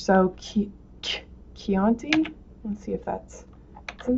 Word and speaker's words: Chianti: So Chianti, let's see if that's, isn't that, to get that K sound, you use the H. So Chianti. To get that K, you use CH.